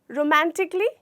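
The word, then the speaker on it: romantically: इसमें हमारा ए, ये जो लेटर है वो साइलेंट है, ये लेटर साइलेंट है, तो हमें इसे नहीं बोलना। इसे हमें प्रोनाउंसिएशन के टाइम पे बोलना है रोमांटिकली, नहीं बोलना। हमें बोलना है क्या? रोमांटिकली।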